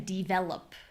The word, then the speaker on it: develop: So instead of saying develop, develop, this makes D and V sound a little too similar.